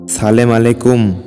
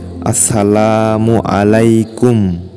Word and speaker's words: আসসালামু আলাইকুম: তবে ওযুর সময় জায়েজ সালাম আলাইকুম বলে সালাম দিলে তা সালাম হবে না বরং সালামের সময় সালামের প্রথম অক্ষর আলিফ কে স্পষ্টভাবে উচ্চারণ করতে হবে যেমন বলতে হবে আসসালামু আলাইকুম হযরত আনাস রাদিয়াল্লাহু তা'আলা